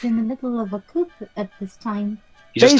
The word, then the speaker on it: coup: the middle of a coup at this time. He just took a photograph. It does look really good, I'll admit. Go ahead. Also, the P is silent in coup.